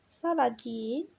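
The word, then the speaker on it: saladier: سالاديي، سالاديي الأغمية ما كتنطقش اون لا برونونس با.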